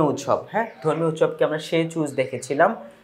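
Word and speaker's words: Tsechu: হ্যা ধর্মীয় উৎসবকে আমরা সে চুজ দেখেছিলাম সে চুজ বলা হয় তাই না এইযে main রিলিজিস festival in Bhutan is called সেচু এখানে টিটা থাকবে টি এর উচ্চারণটা হবে না আর কি সেখানে এটাকে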